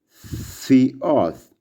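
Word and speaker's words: θεός: The next word is theos. Can we pronounce together? Theos, theos, theos, theos, like in the words theology.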